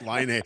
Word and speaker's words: Laine: I was reading a story this morning about Patrick Kane, and I got Laine in my head, but it is in fact Laine.